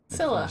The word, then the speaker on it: Scylla: Scylla, that's how you pronounce the it.